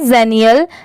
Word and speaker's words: xenial: इसकी प्रोनाउंसिएशन है जेनियल, XENIAL, जेनियल।